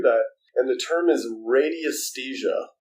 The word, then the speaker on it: radiesthesia: And the term is radiesthesia, Radesthesia. Very, very difficult word to spell, but radiesthesia is how it's pronounced.